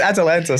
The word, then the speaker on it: Atalanta: You stumble over Atalanta. It's Atalanta. Sorry.